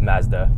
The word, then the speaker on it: Mazda: about our pronunciation of Mazda so here's what he said Mazda so was Mazda okay sure but Italy say in Japanese Matsuda okay that's the way